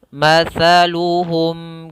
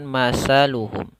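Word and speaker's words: مثلهم: akan bahas daripada makhrajnya matsaluhum kaali mata pada lafal taa ini jangan dibaca dengan sah jangan masaluhum tapi masa ini huruf tsa ujung lidahnya pada lafal huruf tsa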